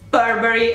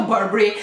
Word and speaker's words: Burberry: Andiamo a vedere, ok, più o meno ero sulla linea d'onda corretta, si pronuncia Burberry, quindi no Burberry, quindi la R no, Burberry, quindi Burberry no,